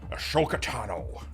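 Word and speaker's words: Ahsoka Tano: People claiming to be fans of the character, claiming to be fans of the show, and they so horribly butcher the spelling. Ashoka. It's Ashoka. Ashoka Tano.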